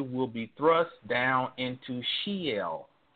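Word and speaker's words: Sheol: be thrust down into Shel now this word is spelled s h e o l but if we use translatory Linguistics phonetically it is very similar to Shell that is the story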